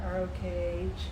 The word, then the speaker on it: Rokh: So the modern brands are more like a Balenciaga, Margiela, Roke. How do you pronounce that? ROKH.